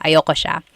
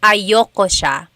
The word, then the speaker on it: ayoko: oh, ayaw ko siya, ayoko siya. That's another thing with pronunciation. Usually it's pronounced ayoko siya. So if you want to sound a little bit more natural, you put everything together, ayoko siya.